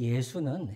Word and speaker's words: 예수: 당시에 매우 흔한 이름이었습니다 물론이 예수는 헬라식 발음이에요 그리스식 발음입니다 히브리식 발음은 여호수아 있니다 여호수아 그래서 여호수아 요셉의 아들